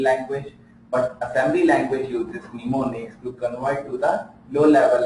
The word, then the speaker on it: mnemonics: So assembly language uses mnemonics, M is silent, mnemonics for representing the